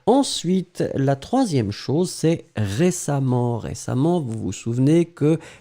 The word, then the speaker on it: récemment: nt vous allez les prononcer am donc on prononce récemment mais on euh pardon on écrit récemment mais on prononce récemment d'accord et la dernière chose et bien c'est